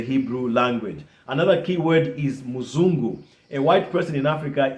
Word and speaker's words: muzungu: two different tribes, so in my father's tongue, it was Musungu. In my mother's tongue, it's Muzungu. See that? So three different, but it's the same word, but three different pronunciations.